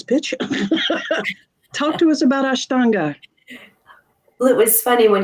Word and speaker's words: Ashtanga: it was just yeah I know yeah it's pronounced Ashtanga Ashtanga yeah um many people confuse in in our